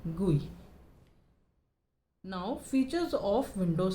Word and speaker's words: GUI: GUI को गुई, क्या बोलते हैं? गुई। इसे हम प्रोनाउंस करते हैं, ग्राफिकल यूज़र इंटरफेस की शॉर्ट फॉर्म होती है GUI, उसे हम प्रोनाउंस करते हैं गुई।